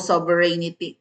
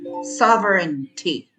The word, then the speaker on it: sovereignty: yun wala tayong sovereignty hindi po sovereinity po sovereinity ha sovereinity five syllables. Four syllables lang sovereignty.